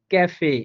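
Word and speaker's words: Café: আমরা দুইটাই উদাহরণ লিখলাম এখানে একটা উদাহরণ দিলাম আমরা ক্যাফে অর্থাৎ এখানে সেটা কিন্তু ক এর মত করে উচ্চারণ হচ্ছে সেম ভাবে দেখেন সেকেন্ড যে উদাহরণটা দিলাম সেন্ট সেন্ট এখানে কিন্তু অর্থাৎ সেটা ছ এর মত করেই উচ্চারণ হইছে তাহলে আমরা দুই জায়গায়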